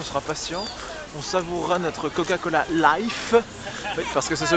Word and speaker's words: Coca-Cola Life: face pass on sera patient on savourera notre Coca-Cola life parce que ça se prononce comme ça j'ai dû apprendre à la